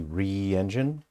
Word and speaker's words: RE Engine: So it's not pronounced Re engine, it's just RE engine.